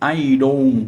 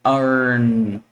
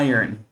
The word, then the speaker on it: iron: Ah, lembrando aí que a pronúncia disso não é iron com é irn ir. Ok? Então a gente fala um pouquinho mudado, ó. Iron, iron a shirt.